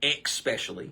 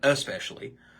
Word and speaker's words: especially: especially is another word some people will say expecially spell it with an ex ex instead of saying especially wash for wash that's